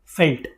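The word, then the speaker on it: veld: तो उसी तरीके से ये जो स्पेलिंग लिखी गई है इसको वेल्ड नहीं बोलेंगे वई एलडी will be pronounced as फेल्ट I hope clear है अब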